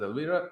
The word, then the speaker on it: Elvira: That's Elvira, but yeah, they pronounce it Elvira.